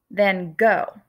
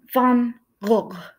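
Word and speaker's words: van Gogh: he was alive because the correct way to say his name is Vincent bum buh or if you're gonna try to read it out Vincent fun poke and Dutch this G right here is gonna be silent and then this sound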